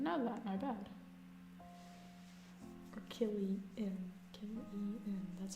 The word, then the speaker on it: Cillian: Or Killian.